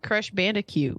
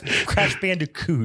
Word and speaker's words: Crash Bandicoot: yeah maybe it was the same time frame Crush Bandicoot was the only game I probably actually got into can you go ahead and pronounce that one more time nope no yes